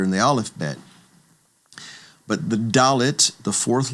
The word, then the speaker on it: Dalet: The fourth letter is Dalet, and Dalet gets the D sound, D, as in David.